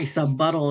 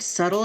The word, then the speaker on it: subtle: Not very subbuttle of you. Hey, you brought it up. Wait, what? What did you just subtle? Did you think the word subtle is pronounced subbuttle?